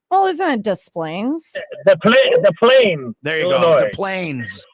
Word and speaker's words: Des Plaines: You said Des Plaines. You got to get it. You drop the S. The S is silent. Well, isn't it Des Plaines?